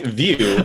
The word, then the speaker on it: Vue: That's why we have the "like view". **JASON:** I do love pronunciation guides with actual -- like, what is it, phonetic spelling?